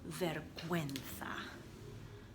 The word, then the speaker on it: vergüenza: So, or embarrassed, it would be tengo vergüenza. So V-E-R-G-U, and those two little dots mean you're going to pronounce it gue, vergüenza.